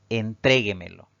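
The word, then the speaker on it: entréguemelo: cinco sílabas sin embargo la mayor fuerza de voz al pronunciarla recae en la sílaba denominada antes de la antepenúltima por lo tanto Recuerden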